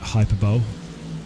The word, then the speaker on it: hyperbole: Do love a bit of hyperbole. The thing is now people are going to be saying, what does he mean by hyperbole? Because hyperbole, the way it's spelled.